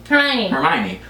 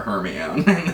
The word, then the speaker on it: Hermione: Like when I read the books, for example, so there's Harry, Ron, and then Hermione. But the way it's spelled, and I guess I was a kid, you know, when you read to yourself, I always said Hermione.